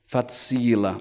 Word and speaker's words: facila: Facila. Another thing about Esperanto pronunciation is that the stress is always on the last but one syllable in a word.